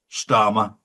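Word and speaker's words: Starmer: We're going to see a huge backlash against Kharma and of course starmmer rhymes with karma.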